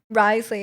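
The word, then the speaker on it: Wriothesley: Ask the French people why Risley is pronounced like that.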